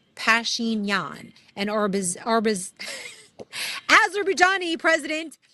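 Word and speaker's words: Pashinyan: Pashin Yan and Orb Orb Azerbajani, President uh I am AliV.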